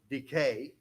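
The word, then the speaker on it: δίκη: d i ke okay Decay Decay like tooth decay that's how you pronounce it but Decay okay diaconos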